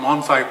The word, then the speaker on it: Anhui: merchants from now pardon my pronunciation, everybody, but Anhui province. Am I saying it right? Thank you so much, Winnie. Okay. From Anhui province, and he was from part of the upper echelon class of people.